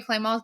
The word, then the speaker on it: Clement: I'm sure she'll put my name in the show notes, but it's it's Claymore Claymore spelled like Clement CL M.